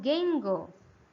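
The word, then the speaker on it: 言語: Dibacanya iu. Yang kedua, ya ini spesial nih. Kotoba. Ya, kosakata. Kotoba. Yang ketiga itu gengo.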